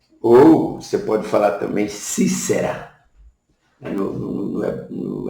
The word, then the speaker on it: Sísera: com som de z aí nós fala sempre sísera mas a a na no hebraico mesmo lá na na forma de pronunciar bíblica é Cícera Cícera com s assim por diante não